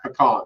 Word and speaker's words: pecan: And it is pronounced pecan, sir, just so you know.